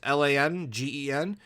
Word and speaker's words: Langen: I don't know how to pronounce it. Sorry, it's Langen.